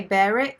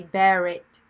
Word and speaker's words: bear it: The pronunciation, we say bear it. We say the R. But with the English accent, it's bear it, bear it. So it's we don't really say the R as much.